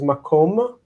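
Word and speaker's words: מקום: These are general rules that help you understand and anticipate the placement of the reduction of syllables. So the word for place is makom.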